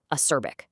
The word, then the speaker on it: acerbic: On the left, we have acerbic, pronounced acerbic.